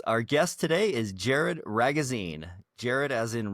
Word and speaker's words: Ragozzine: Our guest today is Jared Ragozzine. Jared as in rhymes with magazine, Jared Ragozzine.